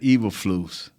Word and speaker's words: Eberflus: More importantly, it's Matt Eberflus. Is I'm pronouncing his name right?